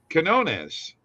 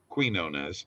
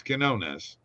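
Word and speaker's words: Quiñones: plays are available here uh starting off with Quinones and that's how you say his name it's not Queen known as it's Quinones under 22 and a half points uh uh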